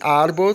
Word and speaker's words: árbol: Aí você tem árbol também na penúltima sílaba, árbol, que é árvore.